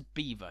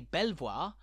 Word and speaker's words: Belvoir: Manor House known as Beaver Castle that's right fight the sophisticated French Instinct within you and don't say Belvoir but beaver a bizarre pronunciation that's